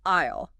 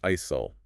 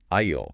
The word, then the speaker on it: aisle: They say isol or isol. But the S is completely silent. It's a ghost letter. You just have to pretend it isn't there. It's pronounced like the word I, then ale, aisle.